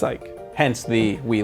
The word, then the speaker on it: Ike: background on Ike and it is Ike not eek even though like some may think oh it's if this is Japanese creation it'd be pronounced eek right like no it's Ike hence the we like